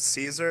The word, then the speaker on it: Caesar: I believe that you'll find that Caesar is actually pronounced Kaiser.